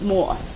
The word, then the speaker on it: mor: know is that Rachel uses the word mom in Danish and it's pronounced more you my lucky piece